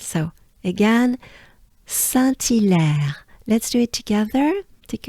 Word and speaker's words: Saint-Hilaire: In terms of pronunciation, it goes like this. Saint-Hilaire, right? So the banana smile is important here. Make sure you overpronounce it, right? You exaggerate it. So again, Saint-Hilaire.